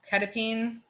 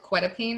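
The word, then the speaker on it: quetiapine: Ketapine, which is funny because Middleburg calls it quetapine, and it cracks me up because I'm in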